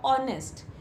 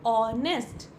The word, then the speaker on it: honest: Like we talk about word hour or honest. In these two words, first letter H is silent.